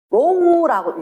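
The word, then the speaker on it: ρ: 이걸 뭐라 읽는다고요? 로우라고 읽거든, 발음으로는.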